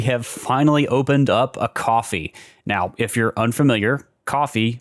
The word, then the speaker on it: Ko-fi: After much foot dragging, we have finally opened up a Ko-fi. Now, if you're unfamiliar, Ko-fi, which is spelled Ko-Fi, is a platform kind of like